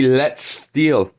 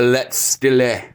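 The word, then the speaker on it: Letzt Stil: Even words like the Quincy Let's Steal, they call it the Let's Stille.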